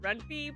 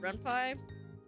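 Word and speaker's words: Ren'Py: focus on the most is a program called Renpie, which in my brain I thought it was pronounced Reny, but apparently it's pronounced Renpai.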